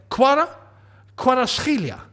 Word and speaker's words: Kvaratskhelia: I know that it's Kuara, or like it's not an actual V, it's a W. It's pronounced a W even though it says V. So it's like Kvaratskhelia.